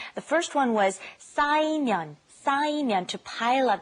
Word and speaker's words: 쌓이면: The first one was 쌓이면, 쌓이면, to pile up. Be careful with the 쌓.